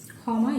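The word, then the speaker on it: ক্ষমা: Because this kha, like the other letters, other consonant letters, it also has the built-in O ending, kha.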